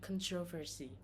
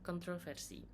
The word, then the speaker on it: controversy: For example, like when we say controversy, some speaker maybe said controversy, and by others maybe controversy. It will be quite wrong to say that one version was correct and one is incorrect.